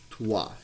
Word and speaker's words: trois: So it would be trois is how you say three in French.